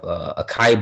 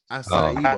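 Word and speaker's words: açaí: Acai bowls. Yes. Yeah, not acai bowls, because I used to I call say them that. I say acai. I've been saying it wrong all my life.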